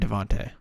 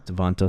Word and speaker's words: DeVonta: I've heard Devonte. Devonte Smith? Yeah. Devonta Smith? Okay, whatever. But you can do either, I think. I don't know. I've heard both.